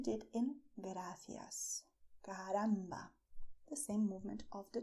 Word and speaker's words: caramba: Okay, so you're going to say caramba with the same movement of your tongue, very quickly touching your front teeth as you did in gracias. Caramba.